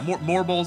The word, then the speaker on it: Morbol: Yeah, Morbols is like the true pronunciation.